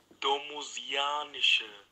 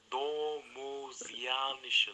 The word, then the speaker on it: domusianische: Domusianische, Domusianische, so wird's ausgesprochen.